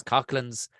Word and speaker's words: Coughlin's: Mike is saying Collins. That's for the Cork people that are listening to this. Everybody else, yeah, that's Coughlin's. Or if you're from the yeah. UK, it's Coughlin's. Which spell it any of the three fucking ways, but it's Coughlin's.